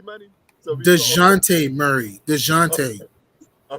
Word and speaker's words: Dejounte: So DeJounte Murray.